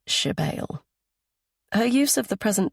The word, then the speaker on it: Sibyl: Only my mother calls me Shebale, she says, pronouncing the word as Shebale.